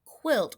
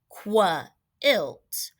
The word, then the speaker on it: quilt: When we say words like quilt, we don't say qua-ilt. It's quilt.